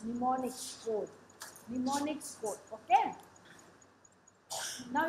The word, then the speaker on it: mnemonics: M is silent. Mnemonics. Mnemonics code.